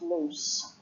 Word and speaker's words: loose: my neck it's loose as an adjective it's pronounced loose with an S sound and then the wrists